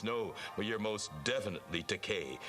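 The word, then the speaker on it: Takei: but you're most definitely teay rhymes with okay doesn't it okay you're teay and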